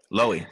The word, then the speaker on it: Loewy: Did I pronounce it right, Jason? Loewy, sorry. Yeah, that's Jason, all right. Loewy.